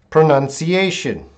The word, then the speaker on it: pronunciation: Pronunciation. Pronunciation. Oh, hello, Zakia Tun. Welcome. Pronunciation. Pronunciation. Pro. Pro. None. See. A. Shun. Pronunciation. Pro. None. See. A. Shun. 5.